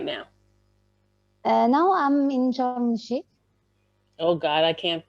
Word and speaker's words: Sharm el Sheikh: Now I'm in Sharm el Sheikh. Oh God, I can't pronounce that one. You can say charm.